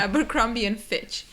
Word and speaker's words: Abercrombie & Fitch: Nhưng đó là cách phát âm chính xác. Thật ra, Wes tôi nghĩ là "Finch." Nhưng đó là Abercrombie & Fitch.